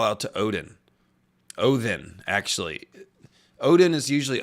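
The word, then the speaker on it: Óðinn: it's an it's a it's a different letter that's pronounced with a hard th so it's Odin is actually how you say it not Odin it's Odin din oh then like that so same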